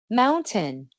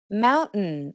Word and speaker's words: mountain: En estas palabras es muy muy común escuchar un cierre de la garganta en vez de una t clara. Con mi acento estas palabras con una pronunciación más formal suenan mountain, curtain, kitten important. Pero cuando estamos hablando informalmente es mucho más normal decir mountain o mountain.